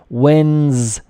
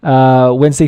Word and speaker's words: Wednesday: Pronunciation Wednesday. Not really like the spelling. The D doesn't really exist. Wednesday, to discuss a possible digital euro currency.